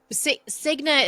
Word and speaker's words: Cigna: Cigna is one of the companies who names, but yes. Okay, sorry. That's okay. It rhymes with schmigma.